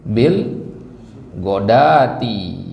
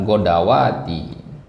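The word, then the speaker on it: الغداة: wasbir nafsaka maalladina yadabahum Bil godati ya bukan godawati nah ya Bil gododati bukan Bil godawati nah ini kata-kata dalam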